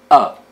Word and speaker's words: ă: umbrella litora a letter the name of this letter in the Romanian alphabet is up it is pronounced like a in about about now let's see